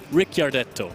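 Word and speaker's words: Ricciardo: you're playing this deck I I have had problems with the pronunciation because there is an eye in there and I never know where but it is Rick Rick yardo ooh we also have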